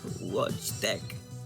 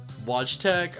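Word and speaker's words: Wojtek: got his name wrong it's not Mishka it's it's some Polish name that I can't pronounce oh man w-o-j-t-e-k watch deck watch Tech all right yeah yeah fair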